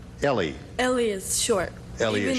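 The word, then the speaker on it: Eli: And it's pronounced Ellie.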